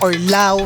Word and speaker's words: Laos: Ang tamang pagbigkas sa laos is law. So silent S. So kapagka may narinig kayong laos law, mali.